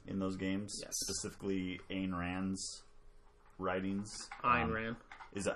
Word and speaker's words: Ayn Rand: Specifically, Ayn Rand's writings.